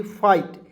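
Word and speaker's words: fight: एफ आई जी एसटी फाइट ए से फ लिखेंगे और जब भी कोई भी वर्ड्स के अंतिम में आई जीी एसटी रहता है उसको उचार आइट के रूप में करेंगे ठीक है हो जाएगा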